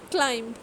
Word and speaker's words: climb: the letter w is silent the next one is silent b dep doubt climb climb so you can see that i am